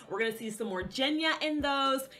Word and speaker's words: Genya: We're gonna see some more Jenya in those. It's pronounced Jenya, not Genya.